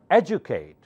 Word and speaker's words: educate: education so try again educate remember D you in this word sounds like Ju educate not educate educate